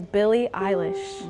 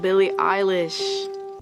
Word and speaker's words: Billie Eilish: My name is Billie Eilish. Billie Eilish. People really must mispronounce her name all of the time to the point where she sounds kind of angry when she says her name. Billie Eilish.